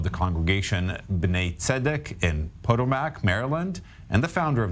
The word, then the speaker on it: Potomac: i've ever done a television interview where they pronounced that they said it correctly but the town incorrectly it's potomac maryland but okay thank you well you can